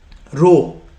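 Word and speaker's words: rho: RA upon L this stands for specific resistance row that's how we pronounce it or resistivity okay R stands for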